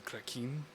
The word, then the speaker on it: Kraken: think one of my current party members, real mad beef with you say the Kraken or the Kraken? It's pronounced the Krakin.